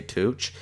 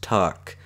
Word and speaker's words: Tuch: team, Alex Tuch, or I always say Tuch, he actually is a new Vegas Golden Knight, and it's actually pronounced Tuck. So I know, now I know how to pronounce it. I will say Tuck and not Tuch.